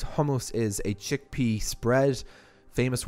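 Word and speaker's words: חומוס: sake of this video most Israelis were pronounced it was a Godzilla cat sound so there's hummus which is the first homos is a chickpea spread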